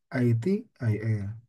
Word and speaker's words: ITIL: Mohon ini jangan dibaca secara pronounce Indonesia ya. Jangan dibaca gitu ya. Jangan dibaca ITIL ya, tapi ITIL.